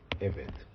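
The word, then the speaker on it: עֶבֶד: Eved. Okay. Now I am looking at 7.27 of the page Kelly. Eved is a bisyllabic segolate noun because it's accented on the first syllable.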